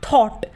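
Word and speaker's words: thought: silent रहता है तो जिस भी शब्द के बीच में ग आएगा वहां पर ग साइलेंट हो जाएगा जैसे टी ह ओ यू जी ह टी थॉट अब थॉट में जो ग है वो कहां पे ए रहा है बीच में ए रहा है इसलिए ग क्या है साइलेंट है यानी की है तो लेकिन वो बोला नहीं जा रहा हम क्या बोलते हैं थॉट बोलते हैं तो यहां पर ग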